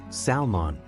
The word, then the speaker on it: salmon: is pronounced as salmon usually mispronounced as salmon in Salmon the L is silent it's a type of